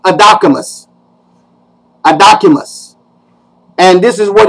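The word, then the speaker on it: ἀδόκιμος: Now, over in the Vine's Expository Dictionary of New Testament Words, the word that is employed is an adjective, and it's pronounced adocimus.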